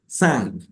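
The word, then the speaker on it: cinq: es el número 100 ojo son el número cinco es San s 100 son c s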